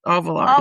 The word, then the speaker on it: Auvillar: So is it Auvillar? Am I saying it correctly? That's it. Auvillar, yes.